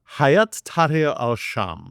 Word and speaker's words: Hayat Tahrir al-Sham: What way do you pronounce HTS? It's a wee bit tricky for me. Hayat Tahrir al-Sham.